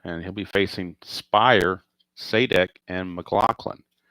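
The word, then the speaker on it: Sadek: Randy Jones back out, and he'll be facing Spire, Saydek, and McLaughlin. I think it's pronounced Saydek or or Sadik. I'm I'm assuming it's Saydek, like Pat Sajak.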